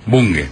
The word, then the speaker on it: Bunge: ¿Bunge o Bunge? ¿Cómo se pronuncia? ¿Cómo se llama usted a sí mismo? Bunge, ok.